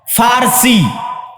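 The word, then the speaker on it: فرس: আরেকদিকে পারস্য পারস্য মানে ফারসি বাংলায় বলে প কিন্তু ওটাই আরবিতে আছে ফারসি ফুর কেন আরবিতে পর কোন উচ্চারণ নাই আরবিতে পর কোন উচ্চারণ নাই সেটা আমরা পারস্য বলতে ওটাই আরবিতে বলে ফুরস ফারসি যারা ফারসি ভাষায়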